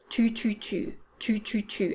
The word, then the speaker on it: tu: sound now in french to make a do sound you're going to want to touch the back of your lower teeth with the tip of your 2 2 2 2 2 as opposed to 2